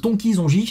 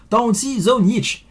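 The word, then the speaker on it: Tonči Zonjić: yop est pour toi donc ça se prononce j'espère faire honneur attention talent shiso nietzsche et donc même si ça se lit ton qu'ils ont gic va non ça se prononce temps aux ciseaux nietzsche voilà la classe ou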